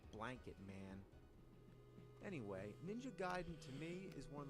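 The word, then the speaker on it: Gaiden: Everyone always said ninja gayen, but I know for a fact it's Giden.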